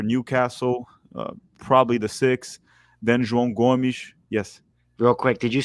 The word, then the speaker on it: João Gomes: Yeah, João Gomes.